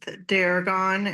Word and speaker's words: Deragon: Uh, what is your full name and could you please spell it? I'm uh Daragon and it's um